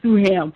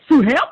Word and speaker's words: Sue Ham: oblig oh my goodness please call me suam I would say say it like uh suam baby but I'm gonna just say suam suam it is child